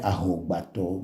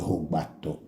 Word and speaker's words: Ahogbato: But then the Anglo, when the A is there, usually they remove the A and pronounce the word that follows. Like we say Ahogbato, but then Anglo, where it came from, call it Hogbato.